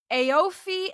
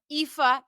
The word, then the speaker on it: Aoife: I would have said Dara, Aofi, and Aobin. They're really pronounced Dara, Aoife, and Aveen.